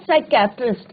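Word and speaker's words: psychiatrist: और उन्होंने कहा कि यस I have taken the obvious step, I talk to अ साइकेट्रिस्ट। अब यहाँ पे बच्चों क्या है, पी साइलेंट रहता है, राइट।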